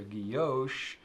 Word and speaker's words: guilloché: So guilloche is a proper way to say it.